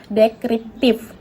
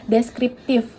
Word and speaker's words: deskriptif: penelitian ini menggunakan pendekatan dekriptif. Nah, seharusnya kata deskriptif itu tidak benar dan pengucapannya juga salah, tidak sesuai dengan KBBI. Nah, menurut KBBI itu yang benar adalah deskriptif.